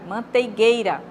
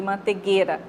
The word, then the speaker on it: manteigueira: não largar né manteiga manteigueira manteigueira em vez de mantegueira porque porque vem da palavra manteiga manteiga é com i né tem a junção